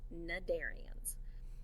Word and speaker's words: cnidarians: called the darienne's notice this word starts with a c' but that c is silent so it's pronounced cnidarians they're invertebrates which means